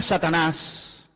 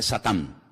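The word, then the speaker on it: שטן: la palabra la palabra Satanás que significa adversario es un nombre que viene del hebreo en hebreo no se dice Satanás se dice satán que significa adversario y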